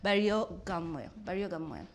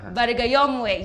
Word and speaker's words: Barigayomwe: Ladies and gentlemen, in studio with me is Dr. Barrio Gamwe. Yes, I said it right the second time. Barigayomwe, yes, Dr. Barigayomwe.